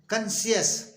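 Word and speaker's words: conscious: ओ एन एस सी आई ओ यू एस कंश अस कंश means जागरूक इसी तरह से एफ ए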